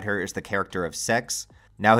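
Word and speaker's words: Sechs: I think most notably alongside her is the character of Sex. Now his name sounds like sex, but it's actually supposed to be, I think, the word six, but like in a different language.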